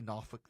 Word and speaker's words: Norfolk: Portsouth, Chesapeake, NOFK, uh they say NOFFK there. They don't say Norfolk.